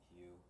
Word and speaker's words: Hu: ancient name for god it's hu you know pronounced hue so we'll um like